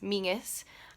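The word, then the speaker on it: Menzies: if you didn't know my surname which is meanest that's how you pronounce it comes from the Normandy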